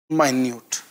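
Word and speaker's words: minute: अगला वर्ड है यहाँ पे माइन्यूट। अगला वर्ड है क्या? माइन्यूट। पहली बात तो ये मिनट नहीं, ये माइन्यूट है, ठीक है।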